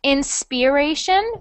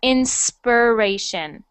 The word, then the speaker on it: inspiration: known good inspiration uh so that is an e sound so not inspiration but inspiration actually like an er inspiration inspiration okay yeah that's just how we pronounce it um next